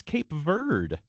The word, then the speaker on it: Cape Verde: Go until Yeah, it's it turns out it's Cape Verde.